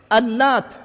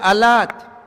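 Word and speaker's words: اللات: Beritahu aku tentang Al-Lat dan Al-Uzza. Ini nama dua patung. Ikhwani fi din azzakumullah, para ulama ahli qiraah ada yang membacanya Al-Lat pakai tasydid, ada juga Alat diringankan. Ya.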